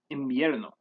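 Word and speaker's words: invierno: word imbierno or winter instead of pronouncing it with an n as in bierno spanish speakers pronounce this as imbierno this is a more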